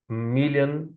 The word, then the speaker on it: million: I know million and billion is written with O, the letter O, but it is pronounced with a sound. Million billion. No American says million billion with O sound. It's always a sound. So, pay attention to that.